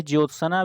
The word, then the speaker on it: ज्योत्सना: बहुत ठीक वैसे ही ज्योत्सना भी बहुत पूछा जाता है शुद्ध क्या है जोत सन यानी जो आधा टी एस एन जोत सन जागृत शब्द शुद्ध है